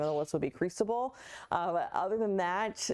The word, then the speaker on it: Cristobal: But again, next name on the list would be Cristobal. And yes, that is how you pronounce it.